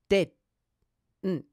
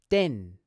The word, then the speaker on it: didn't: You might find it helpful to note that this pronunciation is almost the same as simply saying din. Listen carefully. Din, didn't. In fact, if you're speaking quickly, you can simply pronounce this contraction din, and no one will notice.